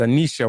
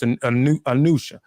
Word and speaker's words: Anusha: I said Anisha, while I always say she don't never correct. It's Anusha.